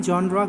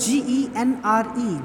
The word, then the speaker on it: genre: But we don't have any genre called story. See, we talk of this particular word genre, genre. We have different pronunciations of this particular word as well. Genre or jar, both are correct.